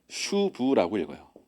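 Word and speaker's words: שוב: 그 아 이걸 어떻게 얘기냐면요 슈브라고 읽어요. 이쪽부터 이렇게 얘기습니다. 슈브.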